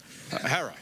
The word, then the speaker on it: Herer: shot by a cop Jack Herer have I pronounced it correctly Jack herrer Hera okay Jack Hera Jack herrer Jack har Jack